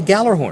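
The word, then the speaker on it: Gjallarhorn: And I understand from my Scrabble games at home, it's spelled G-J, J-G, G-J. G-J. Horn. G-J or horn. That's the Nordic influence.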